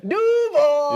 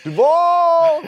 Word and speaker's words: Duval: How do you say it? Duval! Yeah, don't say Duval like that new Jacksonville guy.